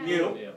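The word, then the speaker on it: μ: Mu. In statistics it means mean, that's right. It's pronounced mu.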